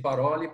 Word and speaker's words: Parole: Então, a gente pronuncia Cine, né? Cine Paroli. Paroli significa palavras em italiano.